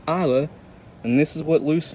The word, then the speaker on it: Islay: an AA whiskey loose yes that is pronounced AA I thought it was islay or something nope it's Isa and this is what